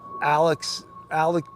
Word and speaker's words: Alec: Just like Alec Baldwin, his name is spelled A-L-E-X, but it's pronounced Alec.